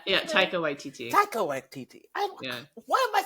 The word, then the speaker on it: Taika Waititi: And for that reason, I'm really hesitant, even with Tiki Waititi, is that how you say it? Taika Waititi.